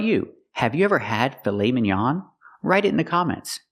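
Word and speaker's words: filet mignon: pronounce it filet Minon it's not filet Minon it's filet minan we use the a sound the open a a like hot and stop filet minan filet minan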